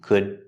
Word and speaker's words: could: The The D at the end of could is a stop D, could, to.